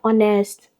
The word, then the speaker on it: honest: Do not forget the letter H in hour is silent. Okay, same as honor, honest.